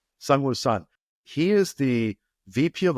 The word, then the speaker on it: Seungwoo Son: I'm going to have to ask you to pronounce Seungwoo's name. Seungwoo Son. Seungwoo Son.